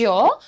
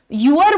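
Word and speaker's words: your: सो कैसे कहिएगा, change योर clothes. अब देखिए, चेंज योर, यूर, यूर बोलते हैं बहुत सारे लोग योर को, तो प्रोनाउंसिएशन इज योर, योर, य का साउंड लेकर के आइए, योर बोलिए, मेरे साथ बोलिए और प्रैक्टिस करते हुए लिखिए।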